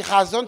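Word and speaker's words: חזון: Ça se lit razon, ça s'écrit chazon, mais ça se lit razon.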